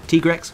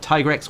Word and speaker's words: Tigrex: Anyway, let's move on to the next build, which is the Tigrex All-Round build. Whether you like to pronounce it Tigrex or Tigrex, this set is a wonderful build that can be used against any monster.